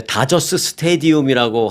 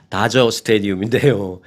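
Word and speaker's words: Dodger Stadium: 네, 다저스 스테디움이라고 하는 거는 정확한 발음은 아닙니다. 다저 스테디움인데요.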